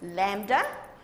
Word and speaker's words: lambda: simple it looks like an upside-down why it's pronounced lambda okay and this represents wavelength now your wavelength